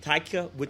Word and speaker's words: Taika Waititi: I cannot pronounce the director's name, but it's Taika Waititi. Can you pronounce it? Taika Waititi.